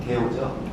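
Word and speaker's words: GEO: 그래도 20쪽짜리 포토 에세이인데 이게 당시 지호는 이제 패러는 했지만 지호는 사실은 이제 정확한 발음은 게오죠.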